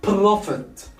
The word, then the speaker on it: profit: We don't double the T because the stress here is not on the last syllable. It's on the first syllable. Profit, profit.